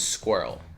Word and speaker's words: squirrel: The word is squirrel, right? So, let's start. The first sound is sk, okay? Then we add W. Squ, like you're saying square, right?